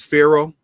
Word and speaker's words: pharaoh: you look there uh per means house wah means great together means uh the parrot means the great house and we pronounce it uh as pharaoh but that does not